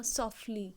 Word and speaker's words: softly: इसको सॉफ्टली मत बोलना, सॉफ्टली। टी साइलेंट ही है एक तरह से यहाँ पे, सॉफ्टली। जब भी टी के बाद एल आ जाता है ना, तो हम उसको, टी को साइलेंट मोड में रहता है, सो सॉफ्टली।